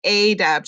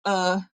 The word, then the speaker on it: adept: So we know that it doesn't say adept or adept. It says adept.